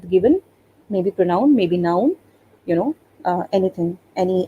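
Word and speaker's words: nous: nu even i can play with no because n o u s is the spelling and s we don't pronounce so even i can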